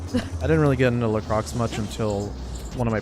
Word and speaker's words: LaCroix: Doza, it's pronounced LaCroix.